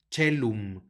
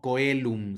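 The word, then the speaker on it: caelum: que suena como e la c que lo precede que va a sonar como Che chelum no coelum sino chelum más adelante tenemos otro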